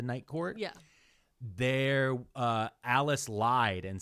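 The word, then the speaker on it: Alis: like the dinner ends and then she remember Alice Alice is the maid oh okay remember like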